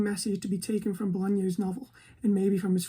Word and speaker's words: Bolaño: I'm not the greatest at pronouncing Chilean, but it's Bolaño. Not Bolano, Bolaño, I think, who is my favourite author, probably one of.